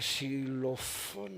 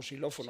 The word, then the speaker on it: xilófono: Y entonces iba por ese camino y de repente escuché un sonido como los, ay, de xilofón, no se dice, o xilófono.